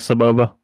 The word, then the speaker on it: Sebulba: Well, also in the movie, they don't really pronounce it Sebulba. They pronounce most of the time they say it a lot quicker, so it just sounds like Sebulba without the L.